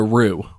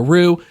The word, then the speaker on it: roux: heat and this is called a roux which is spelled r-o-u-x it's a French word I believe but basically when